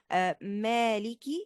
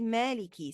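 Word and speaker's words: مالك: For example, in Surah Al-Fatiha, we say Maliki Yawmiddin. I say Maliki, so Maliki means the owner. But if I pronounce it wrongly as Malik, which means the king, it gives a totally different meaning.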